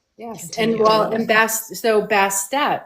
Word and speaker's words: Bastet: So say a little bit more about so is how do you spell that? Basht? Bastet.